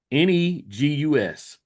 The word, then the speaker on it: Negus: N E G U S. You know, we've heard of um the NWA, that's N I G G A S. But, this is pronounced Negus or negus.